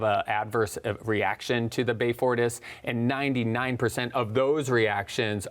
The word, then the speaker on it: Beyfortus: Okay, well, and how long, when we were talking about the Beyfortus, am I pronouncing that correctly?